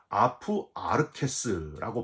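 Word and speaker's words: ἀπ' ἀρχῆς: 여기서 처음부터라는 표현은 헬라어로 아프 아르케스라고 발음하는데, 온 세상이 지어지기 이전부터, 비슷한 표현을 고린도전서 2장 7절에는 만세 전에 이렇게 표현하고 있고요.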